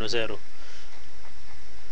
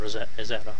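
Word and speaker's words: озеро: The full name of it is Selezen Ozero, or Ezera, I pronounce it.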